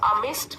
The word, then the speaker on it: amidst: नेसल्ड मतलब उनके बीच में बना हुआ एक घर, और अमिस्ट मतलब बीच में, यहाँ पर भी डी साइलेंट है।